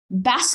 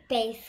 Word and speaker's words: bass: It's not how you say it. No, base clef, not yeah, it's base clef.